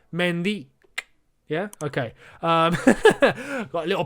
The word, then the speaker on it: Mendy: by the way um he did reiterate as to how his name is pronounced it's not mendy it's mendy yeah okay got a